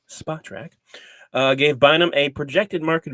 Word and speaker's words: Spotrac: But recently, Spotrac, which I just learned is pronounced Spotrac, not Spotrac, because I looked it up on their official podcast. It is Spotrac.